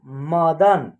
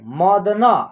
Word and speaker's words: मदन: उसके बाद लिखा हुआ है मदन, क्या है मदन, ठीक है, मदना ऐसे नहीं करना है उच्चारण, मदन।